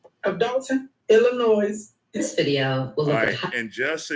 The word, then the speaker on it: Illinois: shout out toon Illinois this video and just so y'all understand Illinois is not pronounced Illinois please please black people use proper addiction the S is silent it's a Native American